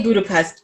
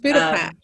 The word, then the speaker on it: Budapest: I don't think I say Budapest correctly or I say very Angloish. It's Budapest is how they say it. It's a eh sound, right?